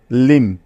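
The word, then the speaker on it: limb: এখন বাকি কি আছে বি যাকে পড়া যাবে না অর্থাৎ বি এর কোন উচ্চারণ হবে না এখানে তাইতো সুতরাং ল ইকার মদেরকে একত্রে যোগ করলে হয়ে যাবে লিম লিম ঠিক আছে কোনভাবেই কিন্তু এই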